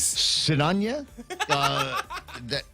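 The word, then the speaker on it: Sinajana: Sinanya, which is how it's pronounced, guys. I know it looks like there's a lot more syllables there, but Sinanya.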